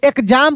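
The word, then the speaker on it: exam: का बोर्ड का ई से ई एक्स एम तो एग्जाम पढ़ते हैं। एग्जाम हालांकि हम जब ए बी सी डी को पढ़ाए थे उसमें बताए थे कि एक्स से एक्स भी पढ़ते हैं और एक्स से ज भी पढ़ते हैं।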